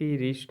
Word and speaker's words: wrist: आर से पहले किसी भी शब्द के प्रारंभ में डब्लू साइलेंट रहता है, जैसे WRIST रिस्ट मतलब कलाई, हाथ।